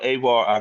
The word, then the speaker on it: Avar: now e brother please help me with the pronunciation of the last name oh yeah it's avar auxilla ailla so what is what is the